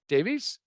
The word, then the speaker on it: Davies: Davies? Did I say it right? Davies, yes.